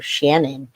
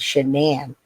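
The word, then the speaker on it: Shanann: gets life in prison the dad calls her or shannan's dad calls her Shannon and other people call her Shannon too because they don't know her name but her name she pronounced it as shenan so I never hear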